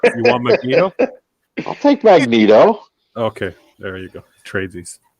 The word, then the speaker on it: Magneto: that the warner's got magento magneto oh i love how you pronounce stuff how else would you pronounce magneto magneto magneto not magento yeah i know that